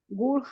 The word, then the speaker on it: would: Would have started my own band a long time ago. Okay, good. Now, pronunciation of this word, guys, is would. Would. The L is silent.